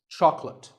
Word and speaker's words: chocolate: this at the store make sure that there are only two syllables chalk and lit chocolate and remember there's no late in chocolate speaking of chocolate how